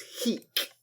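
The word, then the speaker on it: Heke: name he stinks there's also a rhyme with his real name which is Heek um he explains that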